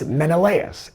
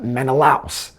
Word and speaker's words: Menelaus: And that it’s Menelaus, and not MeneLAOS.